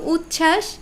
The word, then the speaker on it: উচ্ছ্বাস: আবার সবাই এখানেও হচ্ছে কিন্তু উচ্ছ্বাস এই এখানে আবার ব ফলা উধাও তাহলে এই যে আমরা